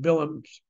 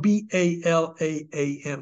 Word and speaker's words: Balaam: By the way, it's spelled B-A-L-A-A-M, so you mostly hear it read by people who don't know Hebrew, Balaam, but Bilam is the correct Hebrew.